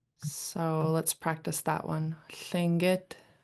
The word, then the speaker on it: Tlingit: It's spelled with a TL in the English language, but the true pronunciation is a Lingit L. So let's practice that one. Lingit. Tlingit.